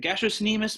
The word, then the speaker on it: gastrocnemius: is known as the gastrocnemius yes that's hard pronounced i'll say it slowly gastro the gastrocnemius muscle you know it better as your calves